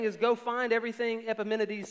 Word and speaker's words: Epimenides: about these people paul does that with um epimenides and that's how you pronounce it don't question that epimenides um he does this in titus he says